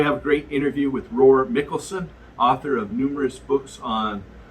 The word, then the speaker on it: Roar Mikalsen: Your name in English looks like Roar, but it's pronounced differently in Norwegian. Do you want to just say it just so? My name in Norwegian is Roar Mikalsen.